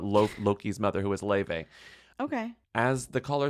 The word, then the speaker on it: Laufey: Le by the way it's not lve it's Le which is okay it's Icelandic sometimes it can be